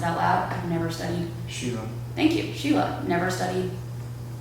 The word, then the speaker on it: Schiele: Sure, and like Egon Schiele, I don't even know how to pronounce it out loud. I've never studied. Sheila.